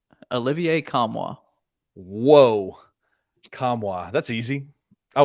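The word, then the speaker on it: Nkamhoua: Tennessee roster page where you can hear the pronunciation how come how come how knock them how Olivier kamwa whoa kamwa that's easy I was way off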